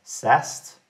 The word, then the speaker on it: SAST: question let's see so static application security testing often pronounced as sast is about finding vulnerabilities